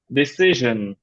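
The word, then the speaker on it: decision: নাই ভিশন ভিশন ডিসিশন ডিসিশন সন না ডিসিশন ডিসিশন ডিসিশন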